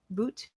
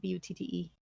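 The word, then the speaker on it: butte: Striking up for the sky in the center of the clearing is a magnificent boot. How do you pronounce that? B-U-T-T-E. Is it really? I think it's butt.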